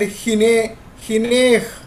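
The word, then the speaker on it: הנה: Like a hine, that's a ha sound is there, but ha sound is silent.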